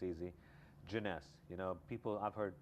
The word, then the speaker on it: Jeunesse: this is a joke all the time is pronouncing the name of the company everything else falls in place it's easy jeunesse you know people i've heard people say genesis or jonas jones it's hard to pronounce it's hard to